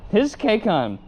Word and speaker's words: HizK: And they just responded basically, "It's exactly how it's spelled, his KCON."